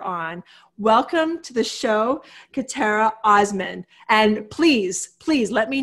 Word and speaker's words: Khatera Osman: Welcome to the show, Khatera Osman. And please, please let me know if I said your name wrong.